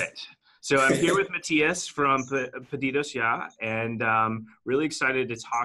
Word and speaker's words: Mathias: How do you pronounce your name? Actually, it's Mathias. Mathias. Okay, yes. Got it. So I'm here with Mathias from PedidosYa, and really excited to talk some